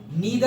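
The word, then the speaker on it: neither: Then नीदर आ गया है directly, नीदर और नाइदर जैसे ही प्रोनाउंस करो। हमारे स्कूल टाइम पे हम नाइदर प्रोनाउंस करते थे, अब नीदर हो गया है।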